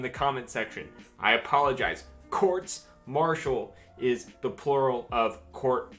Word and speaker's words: courts-martial: this video quick note the plural of court martial is quartz marshall i said it wrong multiple times editing this video the